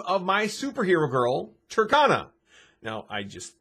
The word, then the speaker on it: Tercona: cone is spelled c-o-n-e simply put turkana is t-e-r-c-o-n ah there's no e there so it's turkana not turkona and that's how i